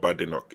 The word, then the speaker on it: Badenoch: Because I heard that it's not Badenoch. She said that there's no bad in my name. She said her name is not Badenoch, it's Badenoch.